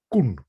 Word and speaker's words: Koen: So Well, I'll teach you how to pronounce my name in Dutch. It's Koen.